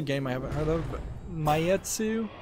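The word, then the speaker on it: Maitetsu: oh here's a game I haven't heard of mayetsu it's spelled m-a-i-t-e-t-s-u pure station is launching July 26th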